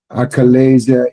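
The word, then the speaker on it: achalasia: Acalasia is a rare chronic disorder of the esophagus.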